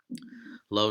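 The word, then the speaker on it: לא: And it's just a lamed with a aleph, which is silent, followed by an o vowel. So it's lo.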